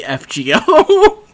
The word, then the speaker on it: FGO: go though funny enough I also pronounce forgo wrong because it is actually legitimately fgo it's an acronym yes exactly that that